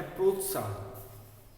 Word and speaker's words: प्रोत्साहन: अगला है प्रोत्साहन। प्रोत्साहन, प्रोत आधा तो, उसके बाद साहन। प्रोत्साहन, प में र है तो पहले हम प्र पढ़ेंगे, फिर ओ की मात्रा,